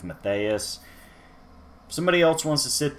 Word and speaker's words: Mathias: sent on the pronunciation there is an H in there so I'm going with Mathias somebody else wants to